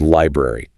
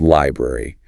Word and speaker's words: library: A classic one is the word library. Pronounced clearly, it's library. But in fast speech, a native speaker might reduce it to library. That middle vowel sound just gets dropped.